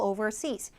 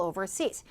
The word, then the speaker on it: overseas: travel overseas 하시면 돼요 travel overseas travel oversees 부사아서 강세가 뒤에 들어가는 거거든요 또 travel overseas 나는 어쨌든 사싱 하는